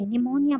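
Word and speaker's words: pneumonia: निमोनिया में आपने देखा होगा बेटा, पी साइलेंट है, NEUMONIA, हम ये निमोनिया बोलते हैं, बट यहाँ एन से पहले जो पी है, ये पी क्या है, यहाँ पर साइलेंट है।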